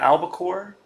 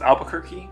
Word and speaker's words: albacore: 38th fish was the albacore I used to always pronounce this Albuquerque that is not correct and uh tried to